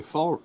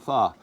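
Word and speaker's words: Pho: go out to a fall a fall restaurant f f that's how you say it f i was want to say fa or F anyways yeah we went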